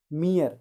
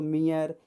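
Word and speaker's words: mere: Next, यदि किसी words के लास्ट में ई आर ई आता है तो पहले ई का उच्चारण ई होता है और दूसरा ई साइलेंट होता है। जैसे मियर, यहाँ देखिए लास्ट मी है, उसके बाद आर फिर ई, तो ई आर ई आया है तो इसको मियर, हियर, स्फीयर, कोहियर, तो इसे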